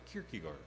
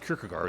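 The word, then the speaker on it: Kierkegaard: me share one anecdote told by the philosopher Kirkigard. I had a that that is the rough pronunciation of that name, Kirkiggard.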